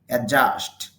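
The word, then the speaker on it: adjust: অ্যাডজাস্ট, সামঞ্জস্য করা। অনেকে অ্যাডজাস্ট বলেন। ডিজে অথবা ডিজি একসাথে থাকলে ডি শুধু লিখায় আসবে, উচ্চারণে আসবে না।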